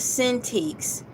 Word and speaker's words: Cintiq: The word I'm looking up is Cintiqs. It's Cintiq. That's how it's phonetically spelled.